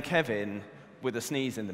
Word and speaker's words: Cynefin: Kevin like the name Kevin with the sneeze in the middle and I can answer that last question first you pronounce it like Kevin with the sneeze in the middle because it's Welsh word can have in the